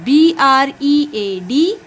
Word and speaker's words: bread: def d e a t yes h good b-r-e-a-d plant very good bread t-h-r-e-a-d yes no come